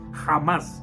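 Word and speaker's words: Hamás: y Criminal llamado jamás Así se pronuncia jamás y así se debe pronunciar en castellano y hay que condenarlo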